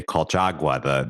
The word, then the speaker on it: Colchagua: Now, right, this is where you must be talking about the Valle de Colchagua, the wine region. Ah, beautifully pronounced.